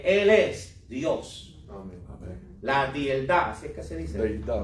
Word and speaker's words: Deidad: It's 2 synonyms? Deidad. Deidad. Deidad. 3 syllables. 3 syllables. Deidad.